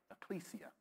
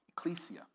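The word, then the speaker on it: ekklesia: I'll spell it again. E-K-K-L-E-S-I-A. All right? L-E-S-I-A. Ecclesia. Ecclesia.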